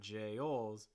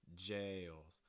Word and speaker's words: jails: jailed jokesters and jails quick note on jails and this has that long vowel it's going to break into two parts jails jails we make that all sound don't give it a stress so it's not jails it's jails but it's a slight